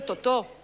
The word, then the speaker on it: Totó: Pero tú has dicho Totó, yo digo Totó, con acento en la última O, como hacemos los franceses.